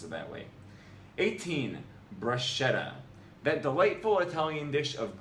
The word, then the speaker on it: bruschetta: This is because in Italian, SCH comes only before E or I, and it always is pronounced like the English SK. Thus, it's not bruschetta, it's bruschetta.